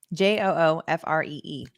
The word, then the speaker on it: Giuffre: STFU also says per Google, Giuffre or Giuffre is pronounced Giuffre. Joofree.